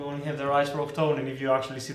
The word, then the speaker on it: Octone: Octane, but Hasbro only have the rights for Octone, and if you actually see the toy of him, he's actually called Octone there too, so it's not our call to just rename the character.